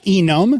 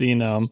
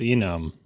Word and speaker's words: enum: It's not enum. Yeah, it's for enumeration. It sure is enum. Oh, come on. No, it's because it's enumeration.